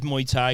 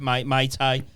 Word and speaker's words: Muay Thai: It's pronounced as Muay Thai. Yeah. For years, I've my Thai, Muay Thai. So it's Muay Thai.